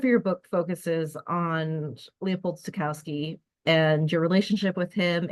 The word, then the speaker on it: Stokowski: It's a Stokowski, but uh, years ago when he was still alive, the pronunciation is Stokowski Thank because you.